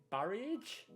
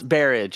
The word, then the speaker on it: Barriage: your last name wrong is it barriage so close barrage it's like marriage yeah yeah um the